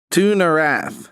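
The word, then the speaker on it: Tu'Narath: legs oh and then underneath it it says to narath which is spelled t-u apostrophe n-a-r-a-t-h is there an arrow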